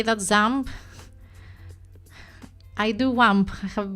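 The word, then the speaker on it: XAMPP: You always pronounce it ZAMP. Yes, that is the way.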